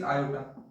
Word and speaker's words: iota: We define it as iota. We write it as I. But we when we pronounce it is iota.